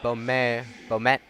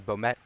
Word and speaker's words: Bomet: So Bmet excuse me. Bomet will shoot two.